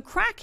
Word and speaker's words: craic: there too plenty but CRA IC spelt but pronounced crack means fun in Ireland